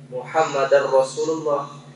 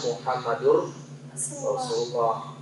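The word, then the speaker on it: محمد رسول الله: alihi tadinya Tertinggal kemudian ini ada pengucapan la ilahaillallah muhammadar rasulullah harusnya Muhammadur Rasulullah kecuali ada hurufhuruf yang huruf nasab yang membuat dia mansub atau baris atas ya ah nanti ee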